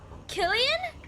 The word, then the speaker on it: Cillian: Spell C, pronounce K. That's so weird. Killian.